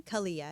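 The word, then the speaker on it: Calia: Kalia.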